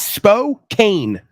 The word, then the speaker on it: Spokane: Spokane it's SP p o k n e that's Spokane I what now Jack of mangle Cott yeah whatever I'm saying it's spok not Spokane can we update that